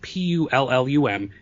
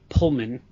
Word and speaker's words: Pullum: Pullum, Pullum. It's not Pullman. Pullum, Pullum.